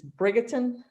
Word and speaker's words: Bridgerton: I'm trying to think of how to pronounce it. It's Bridgerton, the one that's on. Oh, Bridgerton.